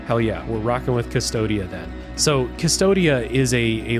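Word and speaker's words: Cvstodia: game, which is set in the world of Custodia. That's how I'm pronouncing it.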